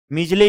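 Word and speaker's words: Midgley: हम डी को साइलेंट पढ़ते हैं और शॉर्ट फॉर्म में हम मीजले बोलते हैं इसको, डी यहाँ पे एक्सेंट में नहीं लिया जाता है।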